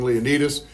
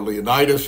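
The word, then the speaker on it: Leonidas: and so yes exactly king leonus or leonitis you'll hear it pronounced both ways um he takes his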